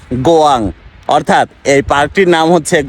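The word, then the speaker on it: 고양: ভার্সনের নাম লেখা আছে জি ওয়াই এন জি অর্থাৎ যেটা উচ্চারণ হবে গোয়াং অর্থাৎ এই পার্কটির নাম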